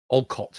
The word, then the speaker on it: Olcott: way was um Henry Oalt was also uh Olcott, I'll pronounce his name.